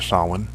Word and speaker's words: Samhain: and it's Halloween month that's anciently it's called Samhain or saman the Halloween celebration and it lasted more than